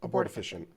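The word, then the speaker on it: abortifacient: fact that efficient yeah abort efficient so it's almost like efficient but it's abort efficient so uh so that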